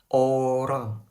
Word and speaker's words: orang: can still pronounce it Orang orang orang If you really can't pronounce it you can say "orang" instead You can